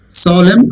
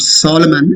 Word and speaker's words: solemn: Solemn, again just like the previous word atom. N is silent. It is not Solomon, it is solemn.